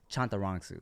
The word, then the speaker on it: Chantarangsu: Chantarangsu? Well, it's that, but every A is a ah, so it's Chantarangsu. Chantarangsu. Yeah, I be yeah. wanting to say Chantarangsu.